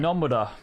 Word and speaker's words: Nomura: Nomura has, or Nomura, I guess is the right way to say it. Nomura.